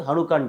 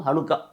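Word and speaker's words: חנוכה: வந்து கொண்டாடுவாங்க இது வந்து ஹனுக்கான்னு சொல்லி ஷனுக்கா ஹனுக்கா ஹனுகா சில உச்சரிப்பு வந்து சனுகா அப்படிபாங்க ஹனுக்கா அப்படிங்கறது ஒரு எட்டு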